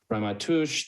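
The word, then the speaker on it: Ramaytush: the traditional territory of the reimagish pronounced ramatush they're the original only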